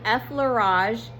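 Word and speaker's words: effleurage: So, effage is how you pronounce the first one and it's circular very light circular motions.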